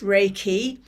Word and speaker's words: Reiki: what is Reiki so raiki as I said pronounced raiki it's originally from Tibet but it was rediscovered